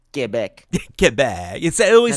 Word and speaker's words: Quebec: too she's awesome from Quebec G back is that how you say it yeah get back get back it it